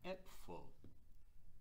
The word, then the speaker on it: Äpfel: So we take the word, for example, apfel, one apple, and the way that we make it into plural is we call it äpfel, äpfel.